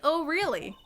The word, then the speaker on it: Orly: I'm not really Russian, and my last name sounds like O'Reilly.